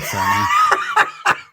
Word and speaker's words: Cerny: please pronounce it Cerny.